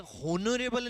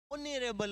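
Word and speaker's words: honourable: यह होनरेबल नहीं होता है। ओनरेबल होता है।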